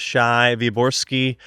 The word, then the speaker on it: Shai Wyborski: and here we are on the podcast with Shai viori welcome to the podcast thank you thank you for pronouncing my name correctly we we did do